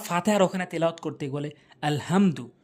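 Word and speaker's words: الحمد: সূরা ফাতিহার ওখানে তেলাওয়াত করতে গেলে আলহামদু, ওখানে আলহামদু বললে তো নামাজই হবে না, বলতে হবে আল হামদু। বড় হা হলকের মাঝখান থেকে উচ্চারণ করতে হবে।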